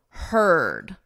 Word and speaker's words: heard: Notice we have EA, but in this case it's and in this case it's ed, heard. So you can think of it as her, him, her, and then just add a D, heard.